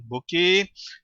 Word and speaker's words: bokeh: Voilà, ça se prononce bqué.